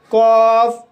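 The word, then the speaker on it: cough: Guys इसके अलावा भी कुछ शब्दों में OU का उच्चारण ओ होता है, जैसे कॉफ, ट्रॉफ। तो गाइस इन शब्दों में OU का उच्चारण ओ हुआ है और GH का उच्चारण फा हुआ है।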